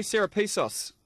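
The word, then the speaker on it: Serepisos: but the apprentice what do you think terry sarapisos that's how you say his name he's not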